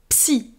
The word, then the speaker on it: Psy: is dragon psychic is SI SI be careful to pronounce the p in the beginning of the word C a ghost is